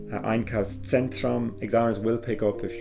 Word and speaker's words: Einkaufszentrum: Ein Einkaufszentrum, a shopping centre, and again with the Z sound, try and give that kind of a pizza sound. Einkaufszentrum, examiners will pick up